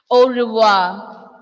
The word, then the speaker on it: au revoir: We are not pronouncing this R here. Instead, Malayalam alphabet, Malayalam letter Ra. Ra sound. Ra sound. Au revoir. Au revoir means goodbye. And the ending letter R will be also silent.